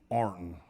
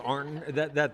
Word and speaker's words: Ironton: So it's pronounced Arnton? That's by the people who live across the, what, across the river on the other side. What do you guys, how do you pronounce it? We call it Arnton.